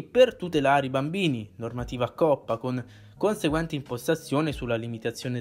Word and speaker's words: COPPA: Le opzioni e le funzioni sono identiche alla grafica precedente dello YouTube Studio, tranne magari le opzioni relative alla legge COPPA, pronunciamo l'acronimo in questo modo.